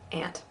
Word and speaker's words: aunt: I wish I could say aunt and not sound a little bit precocious, but yeah, ant.